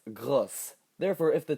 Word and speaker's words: gros: So let's look at the word for big, gros. Notice that it has an S at the end. In the feminine, it's grosse.